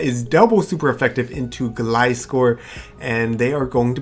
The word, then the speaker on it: Gliscor: Alright, so we have Regirock up against a Gliscor, and I believe that's how you say it because it's a gliding scorpion. I always call it Gliscor, so I apologize if I mess it up.